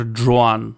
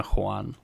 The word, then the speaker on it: Juan: Juan. Мистер Джоан. Ну да, это то, как американцы произносят имя Хуан.